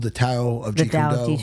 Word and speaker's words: Tao: There's a book called The Tao of Jeet Kune Tao Do. of Jeet Kune Do, Did I yeah. say that right? Yeah. T-A-O. Tao. That's Tao. how it's pronounced.